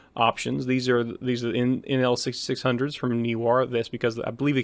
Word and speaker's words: Neewer: This time it's on the Neewer, maybe it's pronounced Newer, Neewer brand light LED light panels.